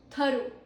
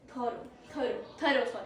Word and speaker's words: thorough: Then we have thorough. Okay? Meaning is complete and careful in detail. Thorough, not thorough.